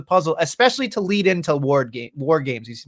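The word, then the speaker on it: WarGames: It's an important piece of the puzzle, especially to lead into war games. He's going to call it Wardlow games. If you're going to say it, you need to say it right. War games.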